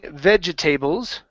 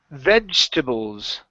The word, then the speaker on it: vegetables: Okay, now instead of saying vegetables, this word is pronounced vegetables. Vegetables. There you go. One more time. Vegetables. Vegetables. Okay, so pronounce that ch in there.